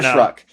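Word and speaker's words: Shough: It It's literally how it's pronounced. It's literally how I I got it wrong first. It's Tyler Shruck.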